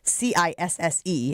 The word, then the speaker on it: Cisse: adding this kid Cisse, who by the way, that is how you pronounce it. You're going to see it written, you're going to see it in the paper and on the internet saying c i s s e and you're going to go And that is not how you say his name, it is Cisse.